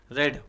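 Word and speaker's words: read: बाद आ जाए तो रीड को रेड बोलते हैं। रेड वर्ब का third form I have रीड गलत। I have रेड। आई हैड रीड गलत। आई हैड रेड। है ना? स्पेलिंग वही रहेगा लेकिन उच्चारण रेड हो जाएगा।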